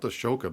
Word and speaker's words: Ahsoka: boba fett yeah so speaking of like this it's spelt ashoka but everyone's called it's about it's yeah so